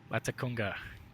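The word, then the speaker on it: Latacunga: lima tango is waiting for it am i pronouncing that right that's a congo okay latakunga uh the runway is long enough for me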